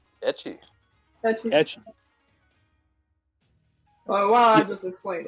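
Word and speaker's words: ecchi: got out here but i don't want to mispronounce it uh what edgy anime am i saying that right etchy oh wow i just explained it in australia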